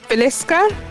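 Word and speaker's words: Villisca: How do you pronounce that? Nicole Velisa.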